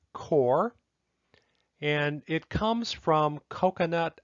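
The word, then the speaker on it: coir: is something called core even though it's spelled c-o-i-r it's pronounced core and it comes from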